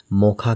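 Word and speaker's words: Mocha: चक्रवाती तूफान मोचा का उच्चारण मोखा के रूप में किया जाता है।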